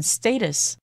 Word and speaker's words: status: 大家好，第一部分我们来介绍名词 status。这个字也可以念成 status，它的意思是社会地位或是身份。例如，You shouldn't judge people by their social